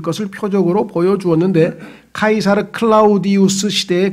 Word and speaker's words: 카이사르: 역사적으로 이 황제 카이사르란 말은 영어로는 아까 얘기했죠. 이 그리스어로 하면은 C자가 K로 발음된다 그랬잖아요. 카이사르. 근데 영어로 가면 이게 시저가 된다. 이 시저. 아까 사이프러스처럼 시저. 똑같은 단어예요. 근데 그리스어로 지금 우리는 여기다가 음역을 해놨어요.